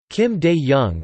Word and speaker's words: Kim Dae-jung: Kim Dae-jung, or Kim Dae-jung, Korean pronunciation Kim D.